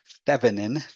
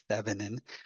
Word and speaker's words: Thévenin: now okay so thin equivalent circuits when you pronounce that it's kind of a funny word fanin fanin um fine equivalent circuits uh are are useful